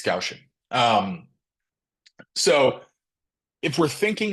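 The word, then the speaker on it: Gaussian: so the gausian distribution I also until grad school I said Guan because I didn't know how to spell it either so it's gausin um so if we're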